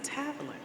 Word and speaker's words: Tavlin: said my name is tavlin and she was like I've been saying your name wrong for four years straight and I was and